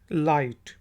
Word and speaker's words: light: लाइट। लाइट। लाइट को कहते हैं, रोशनी को कहते हैं, और इसमें देख लें कि जी साइलेंट है।